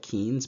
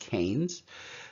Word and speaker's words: Keynes: I know it looks like Keynes, but it's pronounced Keynes.